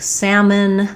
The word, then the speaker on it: salmon: Examples being a word like salmon. There's a silent letter in there, so we don't say the L.